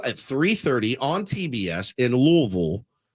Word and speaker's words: Louisville: 3:30 on TBS in louville is how you say it not Louisville it's it's louville uh and by the